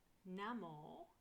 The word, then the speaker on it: Namo: Namore, so it's N-A-M-O. I spell it Namore as O-M-O-R-E, because I say it how I spell it.